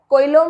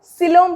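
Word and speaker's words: coelom: CO है, कोइलोम मत बोलना, उसको सिलोम प्रोनाउंस करते हैं, ठीक है।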